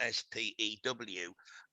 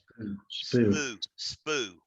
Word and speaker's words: spue: it's spelled SPUE, because that has to be pronounced spew. If it was SPEW, it could spoo, which doesn't have the y sound in it. So the SPUE is spew out of my mouth, right? Not that spoo.